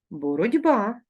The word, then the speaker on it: боротьба: з буквою с просьба як ми вимовляємо боротьба перевіряємо боротися і пишемо боротьба з буквою т як ми вимовляємо вокзал